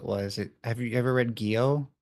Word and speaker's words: Gyo: Have you ever read Gyo? It's actually like an anthology of horror stories, but it's kind of centered around a main story. Gyo, I think is how you say it. Yeah. It's G. Gyo.